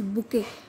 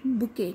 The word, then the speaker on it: bouquet: is pronouncing it as bouquet. T will be silent. All right, so same ways you have to pronounce it, bouquet, not bouquet, right? Bouquet.